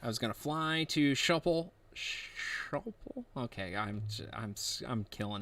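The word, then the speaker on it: Schiphol: to fly to shopel it's not shopal how do you say it how do you say it correctly nipple shopal shuffle that's right okay so you got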